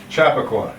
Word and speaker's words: Chappaqua: I can spell it, I just can't pronounce it, but it's in New York, so. Yeah, that's something. Chappaqua.